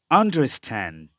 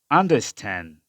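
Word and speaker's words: understand: আমেরিকানরা এই ডি এর উচ্চারণটা করে না। তাহলে উচ্চারণ সম্পূর্ণ মিলে হবে আন্ডারস্ট্যান্ড, আন্ডারস্ট্যান্ড, আন্ডারস্ট্যান্ড, এরকম উচ্চারণ হবে আর কি।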